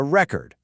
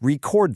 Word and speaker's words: record: But just listen to what happens when I change where I put the stress. I have a record. That's a noun, a thing. But please record this.